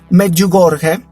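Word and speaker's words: Medjugorje: María en y ojo atención a la a la pronunciación meju gorge Ajá Este es un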